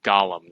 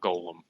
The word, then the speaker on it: Gollum: we get angry nerds it's Gollum not Golem some people say Golem some people say tokens